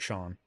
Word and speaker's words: CHAON: There's a guy a few weeks who said his name was CHAON, pronounced like Sean.